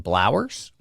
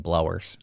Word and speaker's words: Blowers: I've been saying Blowers, and it's Blowers.